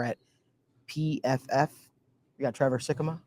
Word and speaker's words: Sikkema: I pronounced his name correctly. You did. You nailed it. You nailed it. Kind of worried about that for a second. You got it. And The double Ks, sometimes it's tough.